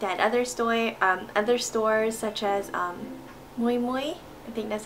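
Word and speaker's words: Miu Miu: After that, I looked at other stores such as Moi Moi, I think that's how you pronounce it, the M-I-U-M-I-U.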